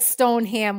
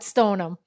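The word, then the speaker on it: Stoneham: No, I'm just saying just in case because it looks like stone ham when you look at it, but you know the Massachusetts way is to call it stonem.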